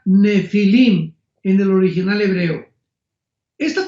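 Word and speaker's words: Nephilim: es la palabra nepilim con n de Nancy y pH intermedia se pronuncia nefilim en el original hebreo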